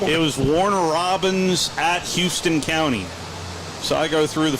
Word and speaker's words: Houston: what do you mean it's not Houston County it's it's spelled like Houston so it's housed in it's Houston it's Houston County yeah yeah I well